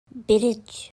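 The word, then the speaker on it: bridge: ब्रिज, ब्रिज। नहीं, अंग्रेजी में इसका उच्चारण ब्रिज है। हालांकि हम कभी-कभी इसे घर पर ब्रिज, ब्रिज या ब्रीज या ब्रेज कहते हैं।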